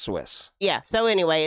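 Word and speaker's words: Suisse: that had failed last week we have credit Susie but it's pronounced Swiss yeah so anyway it's a Swiss Switzerland Bank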